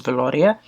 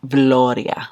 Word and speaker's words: Veloria: McGrath's Divine Rose 1, which is Veloria. And yes, you have to say it like that. Veloria.